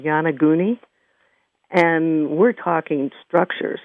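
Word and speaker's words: Yonaguni: it for people sure um it's called it's pronounced yanaguni and it's y o n a g g-u-n-i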